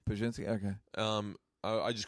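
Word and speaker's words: Pazsitzky: But I say that to people that don't know only because it's how do you pronounce her last name? Pajinski. Pajinski.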